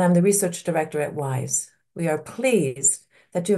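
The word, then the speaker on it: WIIS: the research director at WISE we are pleased that you have joined us for what I know will be a lively and very relevant discussion women in International Security pronounced wise has long been a beacon for gender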